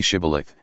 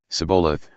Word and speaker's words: shibboleth: said no they said to him then say shibboleth and he said sabolath for he could not pronounce it right Then They seized him and